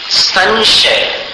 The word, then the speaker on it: संशय: को ऐसी स्थिति पर इसका उच्चारण क्या संशय वो स्व जहां से प्रारंभ होता है ना उसमें जाकर के अनुस्वार को मिलाना पड़ता है संशय और संहार संघार शब्द भी आपने सुना हुआ है।